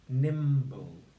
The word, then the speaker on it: nimble: weren't tricked by this you can see that we've got the letters M and B next to each other but listen carefully it's a two syllable word so we don't say we say NIM boom boom boom so actually they're two separate sounds aren't they the end of the